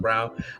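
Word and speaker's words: Christian Braun: brown fell braun but christian brown like he's pronounced brown um he seems like a big dante de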